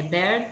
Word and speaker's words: bear: Esse aqui é um minimal pear, né? Porque são palavras com a mesma pronúncia, a única, só tem um som diferente. Aqui é o voiceless, né? P. Bear. E aqui é o voice.